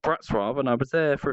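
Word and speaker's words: Wrocław: to a place called black Straub which is spelt Wroclaw which was very weird a place called brats robbed and I was there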